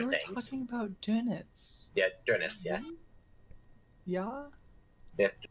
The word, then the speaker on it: Dönitz: talking about Dönitz. Yeah, Dönitz, yeah. Yeah? Yeah, Dönitz, I think. Let me look. I have the Wikipedia page open. Dönitz? Yeah, Dönitz.